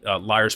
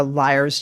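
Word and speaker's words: Lyre's: to ask for a liar's gin and tonic you know the double entendre of that sure it is spelled l y r e apostrophe s though and it's actually named for the liar bird in australia do yourself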